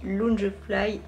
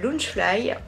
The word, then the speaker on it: Loungefly: Toujours pour mon anniversaire, j'ai reçu de ma petite Akiko Disney ce très joli Loungefly. Loungefly, je sais pas pourquoi je veux dire Loungefly à chaque fois. On prononce pas le E.